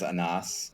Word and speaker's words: Anas: with that sure sure so my name is anas it's an Arabic name I think it means